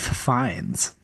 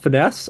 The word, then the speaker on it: Fiennes: Rafe Fiennes. Oh wow. So there's a good It's chance. not Ralph Finesse?